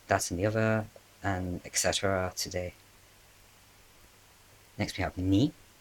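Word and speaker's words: へ: This is spelled with a he, but it's just like e, just like the letter e is how you say it as a particle.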